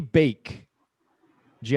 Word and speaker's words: baked: Okay, how do you pronounce this word? Let me see. O passado de bake, de assar.